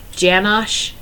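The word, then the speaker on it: Janosh: a Dutch graphic designer janash it's like Jan with Ash at the end Uh janash u a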